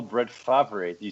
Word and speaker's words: Favre: Duke, you gotta say it properly. It's Favre. You gotta put a little oomph on the E. Yeah. Accent aigu.